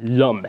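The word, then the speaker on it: homme: the concept of man for the French word Lum and by the way because of the peculiarities of French pronunciation I will use the definite article before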